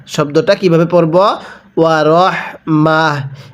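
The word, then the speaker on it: ورحمة: ওয়া রহমাহ, এখানে কিন্তু তা দুই পেশ তুন আছে। অনেকে হয়তো বলতে পারেন হুজুর এখানে তো রহমাতুন আছে, তো আপনি রহমা পড়লেন কেন? দেখুন ওয়াকফের সময় যদি এরকম গোলতা থাকে তাহলে সেই তাগুলোকে আমাদের হা বানিয়ে পড়তে হবে।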